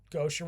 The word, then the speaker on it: Gauthier: It's pronounced Gauthier which is kind of interesting because Dave Gauthier,